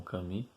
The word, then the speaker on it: Camus: Se escreve Albert Camus, mas se lê em francês como Camus.